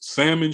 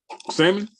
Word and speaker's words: salmon: Malia, I'm eating a salad that has salmon, shrimp, and chicken. Hey, appreciate you for saying that word right, brother. Salmon? Yeah. Because brother, we don't pronounce the L in salmon.